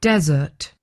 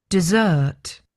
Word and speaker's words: desert: And so, it sounds like the the meal you might have, the small dessert meal you have at the end of a main meal.